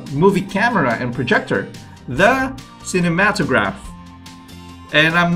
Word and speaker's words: cinematograph: camera and projector, the cinematograph. And I'm not confident with how you pronounce it again, but I think I would say cinematograph. There you go. Cinematograph. Like cinema and then to graph.